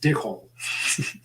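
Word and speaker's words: Dic Whole: Either way, it's pronounced Dick Hole Johnson. It's D-I-C, and then it's W-H-O-L-E. So like a whole thing.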